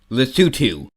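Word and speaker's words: Lesotho: an island it's The Gambia it's pronounced lutu South Africa has a pointless line going through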